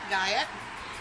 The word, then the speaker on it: Guyot: And I'm here with one of our cast members, Marion Guyot. And she was telling me a nice little story because I pronounced it Guyot. Which it should be.